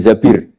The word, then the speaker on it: Zabir: Kemudian saya nikah sama Abdurrahman bin Zabir. Di hadis ini bukan bacanya bukan Zubair tapi Zabir.